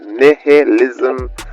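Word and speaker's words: nihilism: pronounced neism as in n i h i l i smhism.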